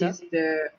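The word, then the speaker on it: 北: So this one, the first kanji, the kunyomi is kita, which Kita? is how you pronounce no lah. No, kita.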